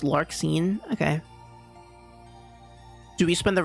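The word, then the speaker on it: Larxene: It's It's pronounced lark scene.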